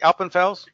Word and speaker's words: Alpenfels: And you'll see we have all kinds of great guests, like we have one tonight with Eric Alpenfels. Is that how you say it, Eric? Alpenfels?